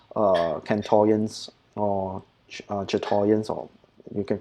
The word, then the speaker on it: chatoyance: So it's Chatoyans or Chatoyans. I don't know how to pronounce it. Chatoyance. Yeah. I think it's Chatoyans, right? Yeah, Chatoyans.